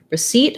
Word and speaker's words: receipt: about the word receipt receipt has second syllable stress and this is one where the spelling is kind of unusual and a little bit confusing letter c says s in this word the letters i e say e and then the p